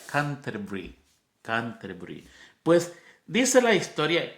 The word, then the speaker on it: Canterbury: catedral que en español escribimos como Canterbury. Yo sé que usted lo tiene que haber escuchado. Canterbury, así se escribe, se pronuncia Canterbury.